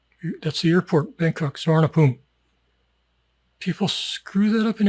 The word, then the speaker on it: Suvarnabhumi: Suvarnabhumi. That's the airport, Bangkok, Suvarnabhumi.